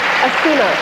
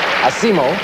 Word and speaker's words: Asimo: Did I pronounce the first name correct? It's Asimo. Asimo.